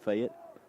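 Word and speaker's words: Fayette: of FY Alabama and depending on how you say it some say FY but the folks from fet say fat NS to return High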